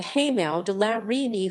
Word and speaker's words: Hameau de la Reine: The Hameau de la Reine French pronunciation, Hameau at la Reine, the Queen's Hamlet,